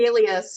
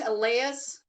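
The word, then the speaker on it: Allais: posted the link for the Wikipedia on the Alias effect I think it's alas is how you say it Alas and back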